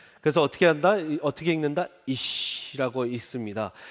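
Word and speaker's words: אִישׁ: 그래서 시 발음이 납니다. 쉬 발음이 나요. 그거를 쉰이라고 합니다. 굉장히 쉽게 지금 가르치고 있는 건데 이해가 되시죠, 다들? 그래서 어떻게 한다? 어떻게 읽는다? 이시라고 읽습니다.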